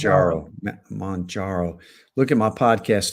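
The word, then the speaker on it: Mounjaro: podcast from today, then I always pronounce that wrong. It's Monjaro. I think we need to have a vote on that. I've been saying Monjaro. Yeah. I think Kilimanjaro, Yeah. Mount Kilimanjaro. Yeah, So I think it's Monjaro.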